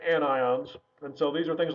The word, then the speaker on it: anions: have negative ions which are called anions again not anyons it's anions and so these are